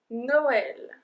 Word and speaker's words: Noël: learning today is Christmas no L know so this one is a particular one because they are the dreamer the two little dots on the which means we have to pronounced as well and in this case